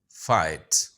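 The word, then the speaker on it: fight: तीसरा वर्ड है फाइट। अच्छा, यहाँ पे GH साइलेंट है।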